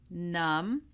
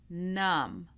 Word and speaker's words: numb: This is the silent B. So we do not pronounce the B in any of these words. We have climb, numb, womb, comb, lamb, debt, doubt, subtle. again. Climb, numb, womb, comb, lamb, debt, doubt, subtle.